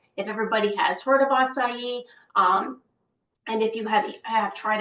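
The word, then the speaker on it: açaí: I have to say, I don't think I pronounced that right till maybe like a year ago or so, but it's acai.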